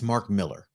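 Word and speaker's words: Mark Millar: the comments I'm gonna protect Richard here it's Mark Miller even though yeah it was pronounced marar uh you guys in the comments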